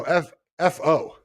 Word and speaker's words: Fo: And so his name is it pronounced or spelled F-A-U-X? No, F-O. F-O. Oh, F-O. All right, that's easy. Fo, yeah.